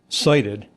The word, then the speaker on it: SIDIT: So si t pronounced uh cited I hath been to the mountaintop and I hath cited the promised land.